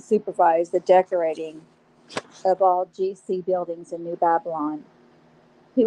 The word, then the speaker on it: Guy: The man produced Guy as G with a hard G, the French way, and blood to rhyme with cod, blod, G-blod, as if Scandinavian.